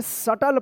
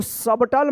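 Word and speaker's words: subtle: सटल पढ़ेंगे। सटल। इसको सबटल मत पढ़िएगा। सटल। क्या पढ़ेंगे? एस यू बी टी एल ई शटल B silent रहेगा।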